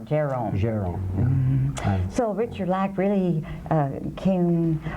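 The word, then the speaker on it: Gérôme: of the 19th century it's been spelled jerome but it's more like the accent is on the ger jerome so richard lack really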